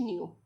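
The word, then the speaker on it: ν: और वी को न्यू pronounce किया जाता है, जो होता है सी अपॉन लेमडा, ठीक है।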